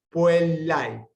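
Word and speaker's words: puellae: excepciones, y debe pronunciarse siempre en una misma sílaba. Puelai, puelai.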